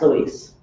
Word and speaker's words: Louis: Misty, do you know if, It's Louis. okay, so it's spelled correctly. Pronounced Louise.